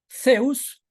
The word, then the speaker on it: Zeus: de Zeus sí Zeus no se pronuncia como nosotros aquí la z simplemente como una s Zeus y lo que en